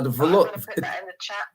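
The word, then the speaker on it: Velours: can I come over tonight about the laws it's spelled v-e-l-o-u-r-s uh velor is that the velor is a it's a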